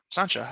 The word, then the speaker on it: Sancha: Sancha, not Sancha. Yeah, Sancha. I said it right. I said it right the first time.